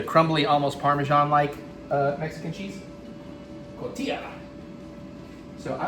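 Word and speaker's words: cotija: I recently found out I have been pronouncing a particular Mexican cheese wrong for a very long time. Surprised no one's tried to correct me. I keep wanting to call it cojita, but it's cotilla.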